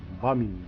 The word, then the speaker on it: Gbamin: Mainz'dan Bamin diye okunur sanırım.